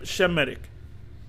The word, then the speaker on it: Semitic: Or Shemitic, it's pronounced Shem- Shemitic.